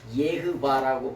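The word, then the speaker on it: Yahweh: 그래서 여호와라고 하는 발음을 원래 예흐바라고 발음합니다.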